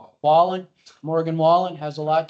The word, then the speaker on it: Wallen: Wallen.